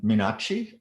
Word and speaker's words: Menache: very much next uh menache am i pronouncing that right yes harvey yes i go by